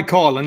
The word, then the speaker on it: Coughlan: on the show it's honor so did i pronounce your name right um it's colin yeah it's close enough all right i i